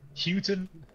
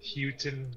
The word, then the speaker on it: Huyton: How do you pronounce this, Lucas? It's Huyton. H-U-Y-T-O-N. Yeah, where Paddy is from. Houghton.